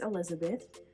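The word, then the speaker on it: Elisabeth: middle name is Elizabeth it's spelled with an S but it's pronounced Elizabeth it's actually a family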